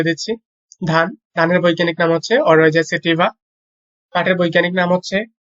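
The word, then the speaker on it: Oryza sativa: তো অনেকের উচ্চারণ করতে প্রবলেম হতে পারে, আমি বলে দিচ্ছি। ধানের বৈজ্ঞানিক নাম হচ্ছে অরোয়েজা সেটিভা।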